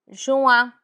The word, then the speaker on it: juin: June, juin, juin. It's a bit nasal. Juin, juin.